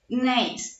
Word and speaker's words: Gneiss: Gneiss, la G no se pronuncia.